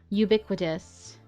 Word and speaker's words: ubiquitous: appearing or found everywhere oh you do pronounce it like you ubiquitous okay cool you learn